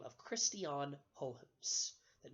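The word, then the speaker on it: Huygens: about a fellow by the name of Christian hopes that name is spelled a little bit strangely hu Y G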